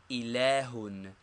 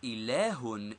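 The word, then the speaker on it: إله: How is the word ilahun pronounced? It is ilahun in reading or ilah in speaking, and means a god or deity.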